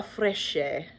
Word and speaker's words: Fresche: I got one from another pattern from Serenità di Campagna, Uova Fresche. Pardon me, I'm trying to remember my Italian pronunciation. CHE is like a ke sound. You don't go ch, so Uova Fresche?